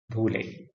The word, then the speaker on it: Phule: The first is Jyotiba Phule, also spelt and pronounced with a P, Phule.